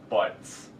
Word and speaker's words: Booties: I'd like to welcome Professor Seymour Booties. Pleasure to meet you, Mr. Nolan. And it's pronounced butts.